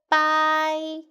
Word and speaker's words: 白: Boy, bye. And second tone.